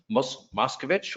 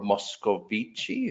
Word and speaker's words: Moscovici: We'll be talking to Marius Moscovici, or Moscovici, if you use the Italian pronunciation, and Mike Smitheman of Metric Insights today.